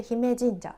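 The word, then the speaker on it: 姫神社: 私は初めて見ましたこれで姫神社と読みますこの神社もとても歴史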